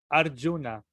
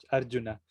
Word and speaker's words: Arjuna: A ver, Arjuna. Arjuna. Arjuna. Ajá, Yuvacha. ahí está, perfecto. Sí, por ejemplo, los argentinos normalmente dicen Arjuna, como si fuera SH. Arjuna. Arjuna. Pero se pronuncia como doble L, Arjuna.